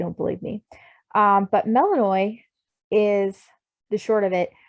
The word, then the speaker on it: Melinoe: is spelled differently but because it's greek and it's got the accent over it uh it makes that oy sound so it is pronounced melanoi and you can google